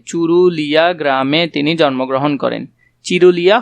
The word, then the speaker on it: চুরুলিয়া: নজরুল ইসলাম জন্মগ্রহণ করেন চুরুলিয়া গ্রামে চুরুলিয়া গ্রামে তিনি জন্মগ্রহণ করেন চিরুলিয়া হবে না চুরুলিয়া হবে একটু ভালো করে দেখবে